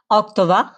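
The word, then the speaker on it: Oktober: যেরকম কিমবা আর যেটা অক্টোবর মাস অক্টোবরকে কি বলে অক্টোবা অটোবা ঠিক আছে অক্টোবা অক্টোবার না ঠিক আছে তারপর যেটা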